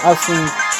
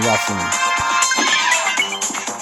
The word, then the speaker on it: Essenes: and other people saying, some people saying Essenes, and other people saying Yessenes.